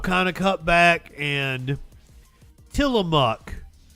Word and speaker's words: Tillamook: of cut back, and Tillamook. Is that better? Did I say it right? Ozempic. It's spelled like mook, isn't it?